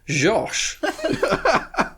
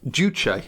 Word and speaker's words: Juche: it reliably informed that it is pronounced Josh well we know how reliable those are the documentary research that I've done has it pronounced duche and tell us about your documentary research mr.